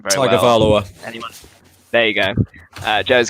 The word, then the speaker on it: Tagovailoa: I cannot pronounce his last name very well. Tagovailoa.